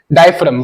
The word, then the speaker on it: diaphragm: डाय डायफ्राम। भाई हमको भी स्पेलिंग देख लेना, प्रोनाउंसिएशन समझना है। ये जो जी है, ये साइलेंट है। ये जी है, साइलेंट है। डायफ्राम बोलता है इसको।